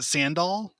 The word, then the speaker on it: Sandahl: Yeah, you gotta take the H out of there, man. It's like the H just confuses people. Sandahl. Like Randy Randall. Sandahl. Like Randall.